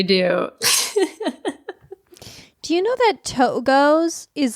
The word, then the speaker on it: Togo's: My coworkers and I pronounce it Togos. Togos. But it's like two goes.